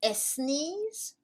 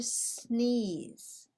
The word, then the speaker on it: sneeze: of the word next do we say estnes or sneeze in english we say did you say s knees you didn't say s sneeze did you no you didn't why not because we do not use the letter e as a help to pronounce the letter s when s is the first letter of the word let's keep going do